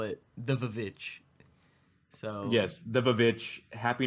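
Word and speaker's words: VVitch: I so the reason we call it the Vavitch is because on the theatrical release poster and on some of the other promotional materials, the W in witch is spelled with two V's.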